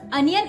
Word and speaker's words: onion: Okay, but just try to be with onion because onion is the correct pronunciation. On will be sounding like un there. Sometimes on is on and sometimes on is un, so it's onion.